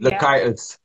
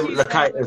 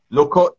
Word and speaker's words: Lakaitis: That's how you say her name, I think. Lakaitis. I pronounced your name wrong earlier, Lakaitis. Okay. I said Loco.